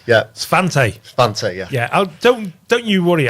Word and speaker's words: Svante: But anyway, Ben, you've got a company called Svante. Have I pronounced that right? You have, yeah. Svante, yeah. Svante, yeah.